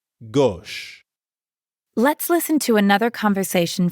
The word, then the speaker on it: gauche: Gauche. It's kind of like the English word gosh, but with the O sound from story. Gauche.